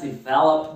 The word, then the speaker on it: develop: Sempre cuidado com a sílaba tônica, tanto em developer, development, e o verbo to develop.